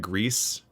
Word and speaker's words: Gris: side scrolling like cinematic like grease which is spelled gris like that's that's a